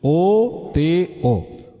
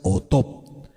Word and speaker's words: oto: Así como usted lo escucha, O-T-O, Oto, o también se puede pronunciar Otop, ¿sí?